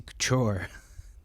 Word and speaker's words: Couture: any other brand, man, Juicy Coocher just I know I'm not saying it right. I'm saying it wrong on purpose, but yeah, if you've ever met somebody who rocks juicy couture, like they're never classy and they're never understanding.